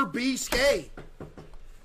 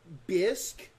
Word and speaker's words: bisque: B what is this what is a lobster bcap is it good it's pronounced bisque lobster bisque okay so